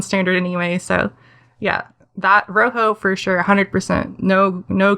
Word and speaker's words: Rojo: I I'll be honest I've been mispronouncing it all this time as Ray J which other people do but it is supposed to be the Spanish color so this row not